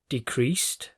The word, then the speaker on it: decrease: different verbs and nouns decreased declined decrease decline did you notice that the stress on this word is on the first syllable and the stress on this word is on the second syllable this is a very